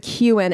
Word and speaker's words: Keoghan: qan qan I guess I always said it Kegan like my name i' heard people pronounce it that way but then we just saw the funny I'm delicious Irish guy I love him uh pronounce it qan and I would trust him yeah yeah yeah I'm